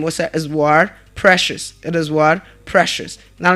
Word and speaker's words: Precious: And that name is pronounced as what? Precious.